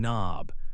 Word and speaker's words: knob: Other words with this pattern include knee, knock, and knob. Remember, the K is quiet at the beginning of these words.